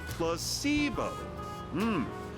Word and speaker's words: placebo: to our vocabulary today repeat after me plus sio h the stress is on the middle syllable very good you're figing